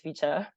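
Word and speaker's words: VCHA: I think it's FEA I think it's pronounced as ficha um and their members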